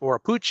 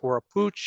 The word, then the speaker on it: Oropouche: Oropouche is probably the closest way to properly pronounce it based on the Arawak language.